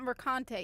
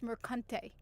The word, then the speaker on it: Mercante: It's, wait, I mispronounced it. It's not Mercante. It's Mercante.